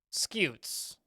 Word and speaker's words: scute: for their bony scoots scutes scoots it's a horny or bony plate on a turtle's shell around the back of a crocodile or stegosaurus and it's pronounced like skewed skewed okay um scoots I